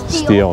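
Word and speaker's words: Stihl: Steel, that's right, yep. It's not spelled S-T-E-A-L, it is spelled right, because that would be for stealing.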